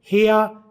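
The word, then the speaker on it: hair: हेयर दोनों में बराबर है, हेया है और हेयर, हेयर तो पाकिस्तान में बोला जाता है, गोरे इसे आमतौर पर आर नहीं बोलते। हेया और है दोनों ब्रिटिश और अमेरिकन वाले इसे बोलेंगे।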